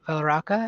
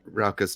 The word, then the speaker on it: Rauka: But Valaraka, I think. Valaraka? Is that how you say it? Rauka's Tyler, yeah. It's Rauka. Yeah.